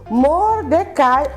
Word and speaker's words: Mordecai: E também temos aqui o Mordecai ou Mardoqueu. Tem as duas pronúncias, tá bom?